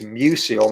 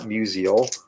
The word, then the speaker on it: Musil: would be bob musil actually it's mucil not musial but they say yeah they're very close in pronunciation though uh yeah bob musial